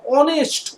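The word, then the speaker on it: honest: আবার ধরো বললাম অ্যান অনেস্ট ম্যান, অ্যান অনেস্ট ম্যান, অনেস্ট শুরু হচ্ছে এইচ দিয়ে, কিন্তু উচ্চারণ করো অনেস্ট, ও ও, যেন ও এর মতো উচ্চারণ আসছে না, তাই না?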